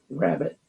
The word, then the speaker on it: Wrabit: is that this is a band called rabbit cleverly spelled with a W uh this is from